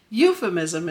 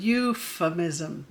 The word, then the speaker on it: euphemism: Euphemism is a fun word. Also makes that U sound, euphemism. That PH is an F sound, euphemism.